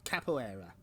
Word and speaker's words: capoeira: Capoeira.